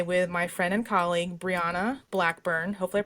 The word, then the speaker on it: Brianna: I am joined today with my friend and colleague, Brianna Blackburn. Hopefully, I pronounced your first name correctly.